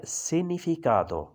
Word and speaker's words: significato: ये लफ्ज़ है significato, यहाँ जी साइलेंट है, जी नहीं बोलेगा।